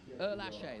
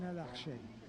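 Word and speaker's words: Ehrlacher: Erlaché, that's the right pronunciation. Oh, he pronounced it beautifully. I asked him, and he said Jan Erlaché.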